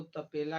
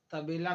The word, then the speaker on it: तबेला: तबेला को तपेला कहें, जैसे कहा जाए घोड़े को तपेला, जैसे कहा जाए घोड़े को तबेला में बांध दो, उसके बदले अगर गलत उच्चारण से कहा जाए कि घोड़े को तपेला में बांध दो, तो तबेला का अर्थ तो होता है घोड़सार, लेकिन तपेला का अर्थ होता है भट्ठी।